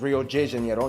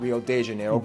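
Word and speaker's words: Rio de Janeiro: from the old capital Rio J Janero that's right it's pronounced Rio J Janero not Rio Deano get it right we're not in Mexico this is Portuguese not Spanish this was done in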